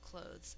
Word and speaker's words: clothes: we add the s we get clothes spell clothes out loud si el o th es clothes